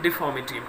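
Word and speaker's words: deformity: देखिएगा third title of the story, Mr Lam tells him about his physical डिफॉर्मिटी। देखिएगा आर के बाद यदि कॉन्सोनेंट है और उससे पहले वावल है स्टूडेंट्स, तो आर साइलेंट होता है।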